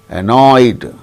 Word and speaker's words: annoyed: It is also a diphthong, oy, annoy, annoyed, so, oh. So, past tense marker is pronounced as D, sought.